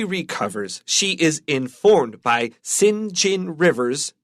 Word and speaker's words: St. John: she is informed by Sinjin rivers that says st. John but it's pronounced singe in rivers that an uncle whose